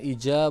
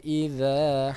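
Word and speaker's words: إذا: Kemudian idza, ingat idza bukan ija bukan iza tapi idza karena itu huruf zal.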